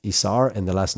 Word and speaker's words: Isar: So it's Isar is my first name, and it's pronounced Isar, and the last name is, like the month of May, but it's spelled.